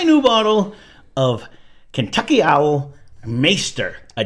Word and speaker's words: Maighstir: open a semi- new bottle of Kentucky owl maester Edition maer that's how you pronounce it I I had to look it